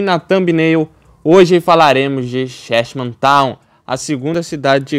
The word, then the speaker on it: Cheshma: do site minha que eu falava chesman chesman tal aí na hora que eu fui ver que como que pronunciava né taquei no Google Tradutor lá ver como é que falava mais ou menos para não falar tão errado e aí eu percebi que era shm Town chesman shm Town enfim